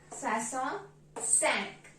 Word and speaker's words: soixante-cinq: cat SW cat and 65 is pronounced as swas sank swas sank so swas is similar